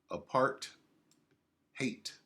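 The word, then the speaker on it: apartheid: part time apart hate apart hate that's how they say it in South afca apart hate a policy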